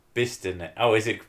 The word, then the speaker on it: Bicester: You will be telling me Bicester is pronounced Bister.